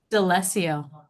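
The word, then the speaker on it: D'Alessio: Dellesio.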